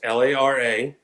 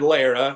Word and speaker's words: Lara: I had to learn how to say it. It's Lara. I'm a Wedo from up around Austin, and I said Lara, and he told me no, it's Lara. You got to roll your R.